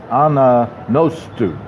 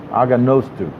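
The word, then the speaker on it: Anagnostou: Mike Anagosto. I'm glad that they put the how to pronounce it. I apologize for Mike for many years of pronouncing it wrong. It's Aganostu.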